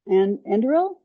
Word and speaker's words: Anduril: Palmer Luckey's company is called Anduril.